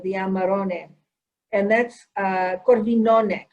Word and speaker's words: corvinone: amarone and that's uh corvinone did i say it right yes perfectly right coming from the left